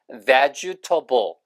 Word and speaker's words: vegetable: 이 발음이 테이블이 아니라 vegetable, 채소, 야채란 뜻이고 이렇게 채소를 먹는 사람들이라고 할 때는 vegetarian 이렇게 발음하시면 돼요.